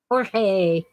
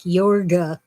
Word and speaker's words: Jorge: idiots on these documentaries pronounce the J like a y and they'll say something like yorga because I don't know what they're talking about or san yesinto the J is a hota it's h Jorge the G is